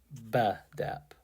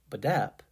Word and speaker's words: Bedap: When I first read the name, I put the stress on the first syllable, and the E became eh, as in bread. Bedap. But then I played with the pronunciation a bit, putting the stress on the A. Once I said Bedap, it clicked.